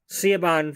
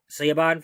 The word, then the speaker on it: Siobhan: And to make matters worse, Siobhan Fires, and that's how I pronounce her name in this game, Siobhan Fires of the Paragons,